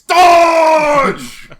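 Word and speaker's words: Dahj: said it wrong uh it properly spoken in the correct namekian accent it's dodge okay no no no it's dodge which is spelled d-a-h-j because for the longest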